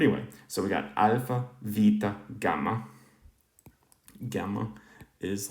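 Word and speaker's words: βήτα: words later but okay so we have alpha beta or alpha vita i'm probably going to start using the modern greek pronunciation just because i think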